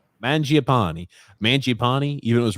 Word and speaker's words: Mangiapane: How do you pronounce his name? Mangiapane.